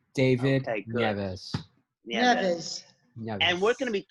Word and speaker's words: David Nieves: Am I pronouncing it right, David? That is correct. David Nieves.